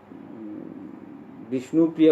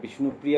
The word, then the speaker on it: বিষ্ণুপ্রিয়া: আরাকেও কথা হান যে গবেষক ভাষাবিদ গিয়ারসন গিরকু তার গবেষণা বিষ্ণুপ্রিয়া উচ্চারণ করতে ইংলিশ উচ্চারণে আসলে বিষ্ণুপ্রিয়া উচ্চারণ সঠিকভাবে নেওয়া হয় বিষ্ণুপুরিয়া বলিয়া এসে উচ্চারণ আসলে একটু গুলমালা আনাছে।